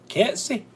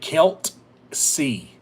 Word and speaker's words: Kelsey: Kelsey. Most people back home pronounced it Kelt-C. K-E-L, like K-E-L-T C or S-E-Y. Kelsey. Kelt. They put a T in it.